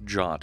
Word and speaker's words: JWT: so I was working with JWT the other day that sometimes pronounced jot if you hear me